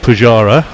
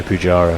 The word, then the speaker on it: Pujara: Che Guevara rhymes with Pujara.